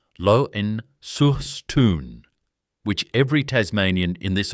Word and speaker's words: Launceston: From 1935, he ran the company's Launceston operation in Tasmania, and the town is pronounced Loen-sur-Stoon, which every Tasmanian in this audience already knows.